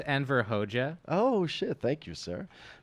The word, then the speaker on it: Enver Hoxha: Is it Anvar Hoxha? Is that how you pronounce it? Mm-hmm. Okay. So famously, Enver Hoxha. It's pronounced Enver Hoxha.